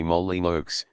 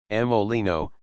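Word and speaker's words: Molyneux: see Cole Mand Montgomery Molly moly looks said a small blackhaired blackeyed young man ring with a yawn Molino said the Emissary articulating the name with great a plum in his own manner no rhymes with dukes said the young man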